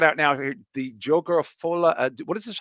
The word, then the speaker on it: Folie à Deux: The Joker of Folie à Deux. What is this? How do you pronounce this, B-Show? Isn't it Folie à Deux? Folie à Deux. Folie à Deux.